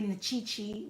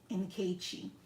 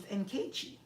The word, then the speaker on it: Nkechi: And I'm like, no, it's N-K-chi, even though it's really Nkechi. But if you pronounce it this way, you'll say it perfectly, which is Nkechi. So I'll say N, separate the K, and separate the CHI.